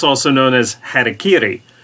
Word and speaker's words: harakiri: it's also known as harakiri many americans have come to mispronounce harakiri as harry kerry who was in fact